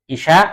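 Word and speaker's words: العشاء: Ini asya, kalau harokatnya ainnya fathah itu makan malam. Kalau harokatnya kasroh isya artinya apa? Salat isya.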